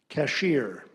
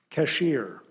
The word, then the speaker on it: cashier: Nathan, your word is cashier. Cashier. Alternate pronunciation, cashier.